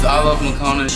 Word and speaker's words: iLoveMakonnen: "My name is iLoveMakonnen."